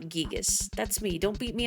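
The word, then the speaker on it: Giygas: um of Earthbound that the intent is it's gigas and not gigus but I don't pronounce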